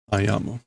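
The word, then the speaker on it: 歩む: Ayamu. 歩んできた. There's that alternate pronunciation for to walk.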